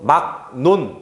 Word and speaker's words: 막론: 그래서 막논 이렇게 된 거예요. 그 다음에 얘가 기역이 아니라 이응, 니은 이렇게 해서 막논 이렇게 발음됐다라고 볼 수 있습니다.